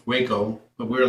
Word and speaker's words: Waco: the city on the map called, well, it's pronounced Waco, but we were like, Wacko? Who the hell names the city Wacko? We all laughed. And I was like, no, it's Waco.